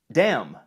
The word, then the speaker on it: damn: is so damn weird damn with a silent n english is well known